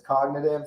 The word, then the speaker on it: Cogn-AI-tive: the word and then so it's cogn AIV but it's cognitive.